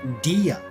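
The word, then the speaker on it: Dehya: And actually, I saw in a trailer or something that her name is pronounced Dia.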